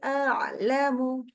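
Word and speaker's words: أعلم: A-nya tetap A ya. A'lamu, nggak boleh jadi A, nggak boleh. Rabbi a'lamu, a'lamu, hamzah dulu.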